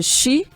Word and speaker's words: Shein: A Shein, ou Shein, como a maioria fala, mas a Sheila, que é chique, trouxe pra gente aqui a pronúncia correta de Shein, tipo a mulher que tá na moda.